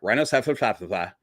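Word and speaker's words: Rhynchocephalia: It starts with an R. Rhinocephalus. And that's how it's pronounced, by the way. It's correct pronunciation.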